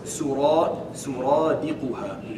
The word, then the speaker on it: سرادقها: Pay attention to the way that's pronounced. Suradiquha.